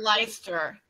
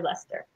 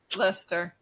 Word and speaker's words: Leicester: the Leicester vegan festival and those were offered leister I always thought it was leister yeah and now they pronounce it lustre okay it's confusing it looks like light sister but it's actually Lester Lester yeah and yeah there was a really good